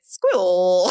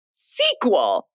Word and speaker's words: SQL: is and pronouncing it squill. Squill. Apparently, it's pronounced sequel.